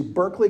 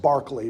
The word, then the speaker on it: Berkeley: in Virginia, you see Berkeley County named after the governor I mentioned, uh, so properly pronounced Barkley, but nobody says that.